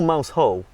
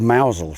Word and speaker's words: Mousehole: Is it Mousel or Mousehole? Well, it's spelled Mousehole, but if you're in the know, it's called Mousel, so Mousel. Obviously Mousel.